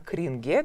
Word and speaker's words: кринж: слова не модные и даже я слышала вариант что произносит не кринж а кринге то есть в том варианте как используется в английском языке такой тоже есть но это чувство стыда